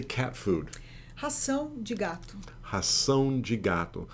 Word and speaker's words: ração: Ração de gato. Ração de gato. So ração is like the word ration.